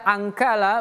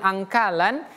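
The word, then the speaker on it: أَنكَالًا: Nah, kenapa saya angkala bukan angkalan? Karena kita mencoba berhenti tadi anala tapi kalau kita sambung an wa jahima inna ladaina ankal wa jahima.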